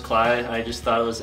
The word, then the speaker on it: Kley: Is it actually pronounced Kley? Yeah.